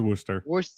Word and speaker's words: Worcester: So it is Worcester. Worcester. Okay. Worcester. I was right, guys. Yay. Worcester is how you pronounce it.